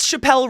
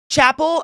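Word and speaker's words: Chappell Roan: Chappelle Ron's new song Chapel I said it wrong again Chapel rone it's Chapel not Chappelle I literally for years I called her Chappelle and then she got popular and I realized it was Chapel I'm still stuck yeah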